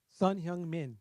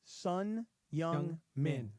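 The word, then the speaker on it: Son Heung-min: Sun Hyung-min. Sun Hyung-min. Okay. Sun Hyung-min.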